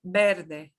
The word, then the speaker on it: verde: Next is the word for green, verde, verde, verde. And you'll pronounce that Verde. V like a be, but very soft, very soft. Eh, Breve, Verde.